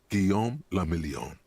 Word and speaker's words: Guillaume le Million: Guillaume le Million. So what does that mean? If it doesn't rhyme, you're not pronouncing it right.